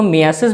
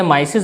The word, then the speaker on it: myiasis: तो guys, veterinary language में इसको मियासिस भी बोलते हैं, या कई जो प्रोनाउंसिएशन होती है माइसिस भी बोल देते हैं, लेकिन मियासिस इज करेक्ट।